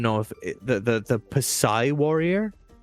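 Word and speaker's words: Psi: I don't even know if the the the Pai warrior the P is silent.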